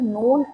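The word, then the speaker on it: known: decide decide करना okay the silent letter in the word नोन इज नोन word में silent letter क्या है तो देखिए हम क्या पढ़ रहे हैं नोन फर्स्ट हमारे मुंह से जो साउंड निकला वो क्या निकला नो और हमें पता है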